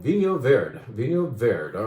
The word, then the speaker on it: Vinho Verde: Vino Verde, right?